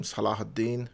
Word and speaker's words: Salahuddin: faith in me well saladin the victorious and sorry there's a big chance i might just pronounce him salahuddin which is the correct way of pronouncing his name is an egyptian movie